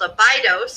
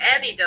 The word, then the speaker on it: Abydos: And he discovers that the ancient city in Egypt called Abydos or Abydos. Abydos. Mm-hmm, there's people call it both ways, Abydos or Abydos. That word is actually the Greek pronunciation.